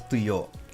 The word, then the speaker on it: tuyo: Well, we pronounce this as tuyo.